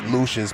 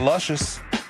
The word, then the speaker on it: Lucious: me up at Lucky Lucious P. All right. On social media, that is L U C I O U S. Pronounce it Lucious, not Luscious. Not Luscious.